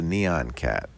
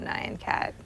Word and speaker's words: Nyan Cat: How about the Neon Cat? The Neon Cat? Is that how you say it? Oh, Nyan Cat. Nyan? Well, it's not neon. That's a whole different N-Y-A-N.